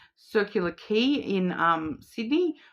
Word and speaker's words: Quay: we've got like Circular Quay in Sydney, which is key is actually spelt with a Q, Quay.